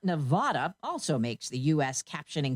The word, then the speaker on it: Nevada: The state of Nevada, not Nevada, also makes the US captioning company's list.